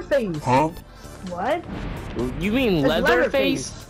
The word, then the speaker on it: Leatherface: huh what you mean leather face not Leatherface no you're saying no say it right say it right leather face not letter face like